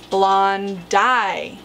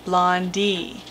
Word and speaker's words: blondi: this animal is actually blonde eye and correct pronunciation as I mentioned in one of my recent videos is blonde dye not laundy there has been a larger documented specimen than